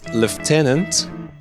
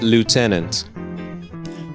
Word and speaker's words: lieutenant: In British English, I think it's lieutenant, and in American English, it's lieutenant.